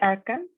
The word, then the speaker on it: Achaeans: And give the Achaeans. Which word, sorry? Hold back and give the Achaeans. Achaeans. Like Achilles, okay.